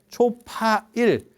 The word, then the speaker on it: 초파일: 초팔일인 것처럼 4월 8일을 초팔일 이렇게 초파일. 처음에 8일. 8일 중에서 대장. 그래서 4월 8일을 초파일, 초파일 이렇게 가는 거거든. 4월 초파일. 예, 이렇게 발음이 그렇게 가는 거예요.